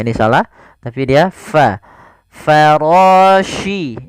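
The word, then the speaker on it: الفراش: Farashi. Ini hati-hati, di sini huruf shin, bukan huruf si. Bukan farasil, tapi farashi.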